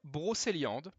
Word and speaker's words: Brocéliande: It does matter because the fourth skill, Blade of Brocéliande, that's how you pronunciate it for the biggest YouTuber out there that were scared to try it.